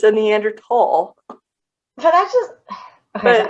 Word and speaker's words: Neanderthal: Just like Neanderthal. It's Neanderthal. It's not Neanderthal. No, it's not. It's Neanderthal. Yes, it is.